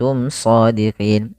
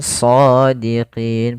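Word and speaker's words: صادقين: Kemudian shadiqin pada lafal shad, di sini ada bacaan mad tabi'i yaitu adanya fathah bertemu dengan alif. Maka cara membacanya yaitu panjangkan dulu huruf shadnya 2 harakat.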